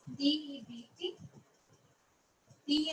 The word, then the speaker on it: debt: in the accountancy terms so we call it as debt okay b is there but b is starting